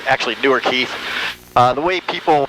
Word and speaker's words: Newark: Ohio it's just east of Columbus it's actually newer Keith the way people pronounce Newark in Ohio's Newark and that keeps